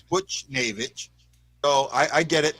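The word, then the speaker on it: Buchnevich: i say it wrong i say bush butch bush david and it's butch so i i get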